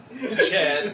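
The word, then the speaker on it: Tchad: Chad with a T. TCH. TCH. Chad. The T is silent.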